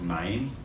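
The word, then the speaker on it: מים: It looks like ma'im. We'll talk about that next week. We'll pronounce it ma'im.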